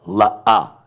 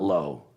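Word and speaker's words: לא: The word no, la-ah, not low. It's not low, it's la-ah.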